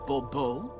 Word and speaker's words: Bourbeau: I expect you to address me as Sir, or better yet, as Monsieur de Bourbeau. Fine. Monsieur de Bourbeau. The emphasis falls on the last syllable. Bourbeau?